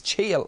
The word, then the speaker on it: chia: I don't think I've ever heard anyone pronounce it Chia Seeds. Look, it's Chia so far as I know.